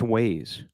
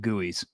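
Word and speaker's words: güey: I don't know uh according to Urban Dictionary um it's pronounced ways who is this guy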